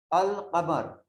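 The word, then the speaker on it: القمر: So we read alif, we read alif lam, al-qamar. There is a sound of L, al-qamaru.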